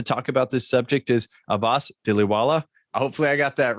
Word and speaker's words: Abbas Dhilawala: Today with us to talk about this subject is Abbas Dhilawala.